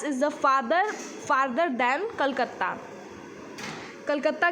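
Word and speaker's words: Kolkata: the farther than Calcutta, Calcutta की spelling पहले ऐसी थी, इसको कलकत्ता बोलते थे बट हम क्या बोलते हैं इसको कोलकाता, और स्पेलिंग ये है।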